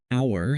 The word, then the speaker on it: hour: visited an ancient castle our has a silent h so it starts with a vowel sound and we use an